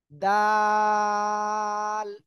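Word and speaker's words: دال: কিন্তু ওই একই জায়গায় অর্থাৎ জিহ্বার আগা এই যে সামনের উপরের এই যে আমার দিকে তাকান এই যে দুই দাঁত দুই দাঁতের গোড়ায় জিহ্বার আগা লাগান লাগান লাগান লাগিয়ে উচ্চারণ করতে হবে আর তিন আলিফ টেনে পড়তে হবে দাল দাল সবাই একসাথে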